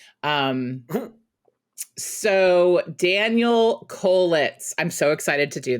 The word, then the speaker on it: Kolitz: are recording now hello hello hello hello daniel kollitz am i pronouncing your name right yep that's it i